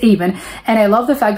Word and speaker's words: Avon: like ion I don't know how I was pronouncing it but it's aan and I love the fact that yes it